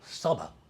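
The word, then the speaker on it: צבא: Is it tasaba? Or you hear the word saba? The word there is a to Yeah, in tasaba. tasaba or saba. It'd be saba. That's how you pronounce it.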